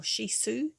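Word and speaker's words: Shih Tzu: as her little males shitzu or shisu to say it properly very gentle but it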